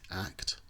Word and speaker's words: ACT: acceptance and commitment therapy often abbreviated to act but never pronounced as a CT is sometimes referred to